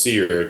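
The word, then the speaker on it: SERE: four-letter acronym they use it's it's pronounced SEER which is survive, escape, resist or sorry survive, evade, resist, escape.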